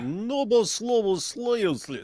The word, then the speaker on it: Novoslobodskaya: You gotta say it like Novoslobodskaya, and then it sounds just more Russian.